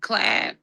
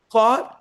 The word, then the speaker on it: Claude: Can you also do that with Clad? Am I pronouncing that right? Claude, Yes. I know Claude has the MCP where you can do the integrations into you have to give it access.